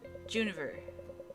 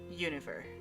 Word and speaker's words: Juniver: way here's my id they usually call me juniver the second version univer is for those who find it easier to combine the two letters into one than to pronounce them all to the point